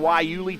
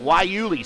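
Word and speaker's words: guayule: That means they are on the softer of the two tires, the Yuli tires. And then the Yuli, spell it with a G, G-U-A-Y-U-L-E, Yuli.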